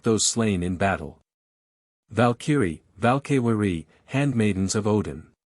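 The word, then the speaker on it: Valkyrie: which Odin took the slain in battle valkyri valkari handmaidens of Odin v threer vair a giant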